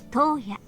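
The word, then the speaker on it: 十八: にちなみ、18 と書いて、東野と読む名前を与えましょう。八条東野。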